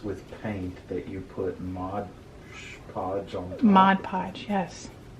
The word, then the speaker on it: Mod Podge: watch the ones where you say modge podge because you say it wrong i don't whatever oh my gosh you just said mod podge mod podge i know